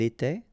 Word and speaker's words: était: Remember, final S, here, here, final T, and then here, and T. You don't pronounce them. So you will get était, okay, for all these forms, okay?